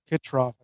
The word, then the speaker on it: Kitroff: Kitroff.